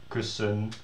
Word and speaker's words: kussen: that ERD, ELD, whatever, endings are all unemphasized. So you can hear that if you pronounce them sort of, or you hear me pronounce it, kussen, lepel, keuken, wekker. So they all sound like e, and this sounds like e, bed.